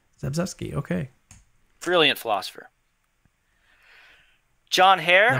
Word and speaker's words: Zagzebski: Linda Zagzebski? Yeah, I'm so bad with names. Zagzebski, okay.